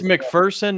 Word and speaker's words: McPherson: And it's McPherson, not McPherson. There's no fear in McPherson. Okay. Got it. It's P-H-E-R-S-O-N. It's not E-A-R-S-O-N. There's no fear in it.